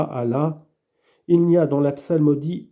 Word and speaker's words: Allah: la salle me dit il doit bien prononcer prononcer le Hamza du mot Allah et prolonger la livre qui précède le a qu'il prenne garde d'aller trop vite de manière à ne pas prononcer Allah Allah ou Allah Allah il n'y a